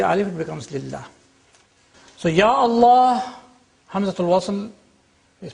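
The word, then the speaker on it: يا الله: But in one case, the alif is retained. It's Ya Allah.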